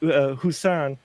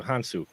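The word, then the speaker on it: Hounsou: you know I'm horrible with this but with husan um hu with huh hansu thank you hansu I see my brain things hu I wanted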